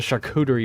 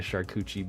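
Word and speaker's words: charcuterie: Give me that the the shak cuderie board. Dude, back in the day I used to call it a shuchi board, but um I learned how to pronounce it afterwards.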